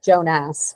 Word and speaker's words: Jonas: yeah, Watson pronounces it as Jonas, which Yes, is appropriate.